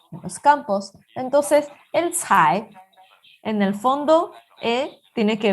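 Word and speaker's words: 采: Por ejemplo, cai tiene en el fondo tiene dos pronunciaciones diferentes.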